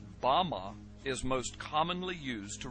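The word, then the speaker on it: במה: which Satan fell is Strong's Hebrew word 1116 pronounced Bama is most commonly used to refer to a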